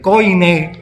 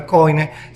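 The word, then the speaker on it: koiné: vulgar viene y el coi ni como se pronuncia no es coin el coi del griego el idioma ordinario que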